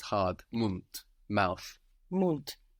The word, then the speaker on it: Mund: In the same way, the word for mouth in German is Mund. This is spelled M-U-N-D.